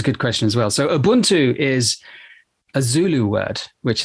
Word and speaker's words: ubuntu: heard through popular culture there's a couple of different pronunciations of it umbutu is the way that i've heard it pronounced what is that and